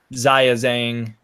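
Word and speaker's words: 章子怡: gonna be mark Russell Ziya Zhang I know I always say her name the American Way which upsets some people but I'm not gonna like pronounce it the Chinese way it's gonna be mark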